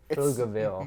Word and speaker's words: Pflugerville: Yeah, Pflugerville, yeah. But it's a Yeah. real name. Yeah. And the P is silent. So it's PF Yeah. and then Lugerville. Pflugerville.